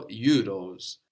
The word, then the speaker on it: euros: You didn't pronounce the last S, you left that off. And also here we have EU, like in the, like in peu.